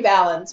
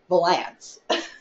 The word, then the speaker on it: Valance: never asked me, but that's not how you pronounce his last name. So they wrote this song and made this movie and said Liberty Valance, but no, it was Liberty Valance.